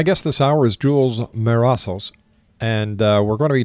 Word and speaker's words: Mesaros: Now I think I pronounced your family name wrong. It's Marossos, am I right?